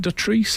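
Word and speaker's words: Dotrice: Edward Woodward's wife is Michelle Dutrice. Is it Dutrice? That's how we pronounce it.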